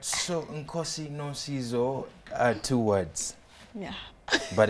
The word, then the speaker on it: Nkosie no Sizo: My name is Nkosie no Sizo. Nkosie no Sizo is my first name. is my surname. All right, so Nkosie no Sizo are two words.